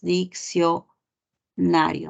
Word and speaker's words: diccionario: la palabra diccionario no la palabra diccionario tú ya sabes que es la c y la c no forman un grupo son diferentes sílabas dicción nario No acá estás observando